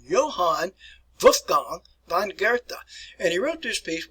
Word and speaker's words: Goethe: So here's a way to properly pronounce his name: Johann Wolfgang von Goethe. All right. Work on your pronunciation. Johann Wolfgang von Goethe.